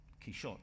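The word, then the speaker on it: Quixote: rest of it and you say look forget it it's key shot so can we no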